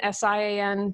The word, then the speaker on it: Sian: We have a couple pronunciation police on my podcast, but Sian, S-I-A-N, Sian Ferguson, and it's from January 17, 2015.